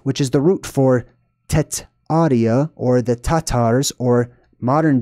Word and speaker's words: Tartaria: Tartaria is a mispronunciation, however, it still works. I'm going to explain what I mean by that. The original word was not Tartaria, it was Tetaria.